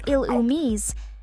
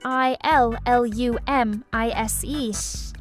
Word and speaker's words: Illumise: Well, master, the Pokémon you're asking about is um pronounced as ilum and spelled as I L L U M I S E.